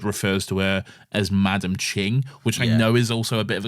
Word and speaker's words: Qing: No, it's spelled Qing but pronounced as Ching, so that is correct.